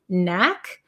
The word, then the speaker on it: knack: word no or NE there's a silent k followed by an N so Knack and be